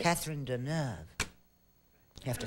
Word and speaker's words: Catherine Deneuve: Catherine Deneuve.